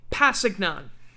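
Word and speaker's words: Kpassagnon: tano from now on that k is silent okay pasignon or passing young pasignon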